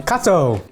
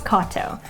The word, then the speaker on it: Katow: but I think it's Katow, like avocado.